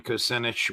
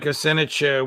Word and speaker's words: Kucinich: If people want to learn about your campaign or even contribute to it, Congressman Kucinich, where can they go and how can they do it?